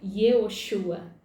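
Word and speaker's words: יְהוֹשֻׁעַ: Josué em hebraico significa Yehoshua. Se pronuncia Yehoshua.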